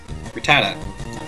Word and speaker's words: Rattata: Rattata. Rat-a-tat. Rat-a-tat. That's how they pronounced it in the anime, and that's how I'm gonna pronounce it here.